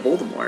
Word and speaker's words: Voldemort: older than daniel radcliffe the t at the end of voldemort is silent the name comes from